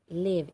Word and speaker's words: Lev: Lev, L-E-V, Lev. I am pronouncing it as it actually spells.